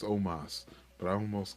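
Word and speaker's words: Omos: I'm almost um um I always say it wrong ever since I heard somebody call Omas almost because every single time I do it I'm like God damn it I know his name's Omas but I almost call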